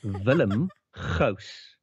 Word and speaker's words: Willem Gous: And just to everybody's probably wondering, so how do you really pronounce it? And it's Willem Gous.